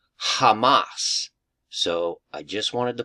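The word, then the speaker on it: חָמָס: Hebrew word h 2555 and it literally is pronounced Hamas so I just wanted to point that out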